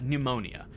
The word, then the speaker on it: pneumonia: immediately or you'll catch pneumonia. You know, first of all, you ever looked at the way pneumonia is spelt? What's that P doing there, first of all?